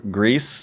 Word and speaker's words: Gris: I played Greece what Greece the game like like the movie Grease No Gris it looks like Chris but I think it's pronounced Greece I think I I